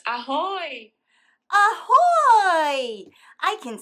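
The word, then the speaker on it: ahoj: It's ahoy.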